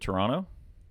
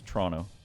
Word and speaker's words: Toronto: that it's kind of instead of Toronto it's more two syllables it's Toronto you're Toronto and then